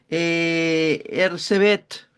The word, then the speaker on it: Erzsébet: Ersebet, Se escribe Erzsébet, pero Elizabeth.